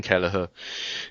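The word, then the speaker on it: Kelleher: it's a Gaelic version of Kevin Quin Kalaher. Yeah. Have to do a bit of research otherwise you know we mispronounce names on the show.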